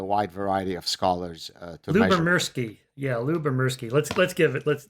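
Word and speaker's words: Lyubomirsky: used by a wide variety of scholarsky yeah Lou bemersky let's let's give it let's let's get that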